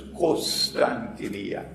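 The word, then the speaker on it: قسطنطينية: I pronounce it as Constantiniya, but in Arabic they pronounce it as Constantiniya. Kos, not Kon.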